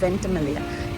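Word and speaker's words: Ventimiglia: ভেন্টিমিগলিয়া, আমরা ভেন্টিমিগলিয়া বলছি, তো জিটা সাইলেন্ট হবে, ওটা হবে ভেন্টিমিগলিয়া স্টেশন।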